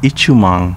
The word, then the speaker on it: Itoman: navy headquarters is located itoman city pronounced ichimong in uchinaguchi is famous for the